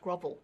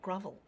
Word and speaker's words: grovel: You know, grovel and shovel should rhyme, but grovel has a spelling pronunciation. There's an O there, so it's pronounced grovel, not grovel.